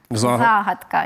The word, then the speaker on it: загадка: загадка українською це буде загадка є в російській мові слово начинка в українській мові це буде начинка є звісно і у